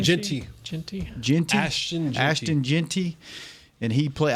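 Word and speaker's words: Jeanty: We were just talking about the guy in Boise at Boise State, Jerry how do you pronounce his last name? Genty.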